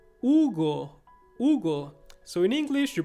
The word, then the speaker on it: Hugo: the letter u ugo hugo so in english you pronounce it you might say hugo but in spanish you say hugo you don't pronounce the h and the next one